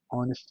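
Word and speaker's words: honest: जो एच है ऑनेस्ट में, ये साइलेंट है, और इसकी साउंड जो है वो वॉवल साउंड है।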